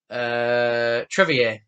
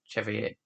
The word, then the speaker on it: Trevier: Trevier, not Chevier. Character's name is pronounced Trevier.